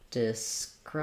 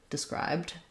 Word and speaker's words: described: carried so described um we have the second syllable stress letter e says the if sound described um no sound for letter e so think about it like D or duh and then subscribe described and your other word um